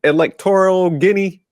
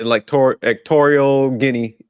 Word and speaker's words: Equatorial Guinea: Electoral Guinea? How you spell it? Equatorial. Yeah, that's how you say it. Equatorial Guinea.